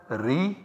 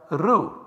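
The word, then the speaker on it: ऋ: found so for example this sound is pronounced in some region as re and also transliterated by writing ri whereas in some other region the same sound is pronounced as rho and also transliterated as r u the original sanskrit pronunciation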